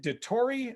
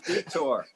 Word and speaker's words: Detore: the class of 76 is it dettori am i pronouncing your last name right that's correct yes and i always thought it was detour that's what it is